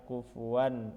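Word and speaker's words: كُفُوًا أَحَد: atau di sini ada fathatain bertemu Hamzah pada lafaz kufuan Ahad nah itu jadi dibaca kufuwan Ahad bukan Ahad itu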